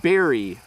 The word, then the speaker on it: berry: So very, I just see my lip. Very, and then berry.